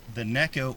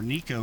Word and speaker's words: Neko: Yeah, a lot of people are talking about the Neko or Nico rig, as it should be pronounced, as replacing the drop shot in a lot of scenarios.